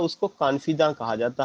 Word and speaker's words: confidante: कॉन्फिदा के बाद जो है एक और शब्द है कॉन्फिदी, CONFIDANTE, कॉन्फिदी।